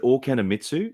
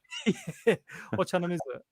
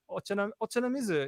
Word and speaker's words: Ochanamizu: Is it Okanamitsu? That's Guitar Street, where there's 400 shops in 400 meters or something. 40 shops in 400 meters. Ochanamizu. Ochanamizu is so ocha being tea, namizu.